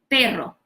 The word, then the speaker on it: pero: middle of the word like payroll you can say this level separately like pay draw okay you have mastered already how to say the raw sound before so then you say hey ro and everytime you keep doing it with a smaller pores in between hey bro hey ro pero okay that's one way